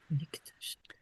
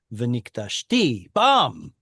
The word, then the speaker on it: ונקדשתי: It wouldn't have worked out to have two stress syllables one after the other. So Hebrew brought it back to here instead. Otherwise, you'd have V'nikdashti, bam. It's like you're trying to stress two syllables in a row.